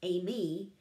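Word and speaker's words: εἰμί: word am is um it's a greek word and it's pronounced amy and its origin is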